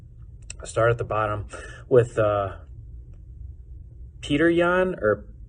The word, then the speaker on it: Petr: We'll start at the bottom with Petr Yan, or Petr Yan, or however he likes to have his name pronounced, but it's not Peter.